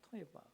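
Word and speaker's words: תועבה: 토에바. 이 토에바라는 발음이요. 이 토에바라는 뜻의 한국말 한국 뜻과 이게 발음이 비슷해요. 우리가 여러분 어떤 더러운 것이나 혹은 혐오스러운 것을 보면 그런데 토한다고 하잖아요. 토할 것 같아.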